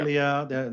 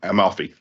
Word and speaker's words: Amalfi: Amelia, I always get this name wrong over here across the North Rock. Amalfi. Amalfi. that one Amalfi.